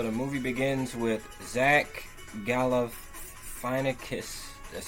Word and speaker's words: Galifianakis: So the movie begins with Zach Galifianakis, that's how you pronounce it, giving the guinea pigs their next